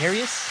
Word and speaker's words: Arius: That's how it's pronounced. Arius.